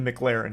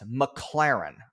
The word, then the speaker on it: McLaren: shows that's worth money is his car the McLaren he's made like a thousand shorts about how